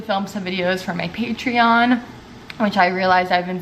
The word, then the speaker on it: Patreon: I also need to film some videos for my Patreon, which I realized I've been saying wrong this entire time. For some reason I thought it was Patreon and it's Patreon.